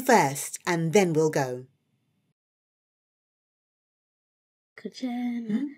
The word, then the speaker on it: kuchena: Yes, friends, let's say Kuchena.